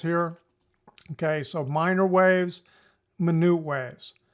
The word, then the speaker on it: minute: okay so minor waves minute waves you spell it like minute but you pronounce it minute is the way we do it okay